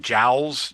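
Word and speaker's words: Joule: So, James Prescott Juul and his family by the way uh they might have pronounced their name more like Jowls.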